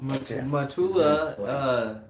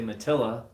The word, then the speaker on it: Matula: Matula, or I say Matilla, but it Matilla. is Matula.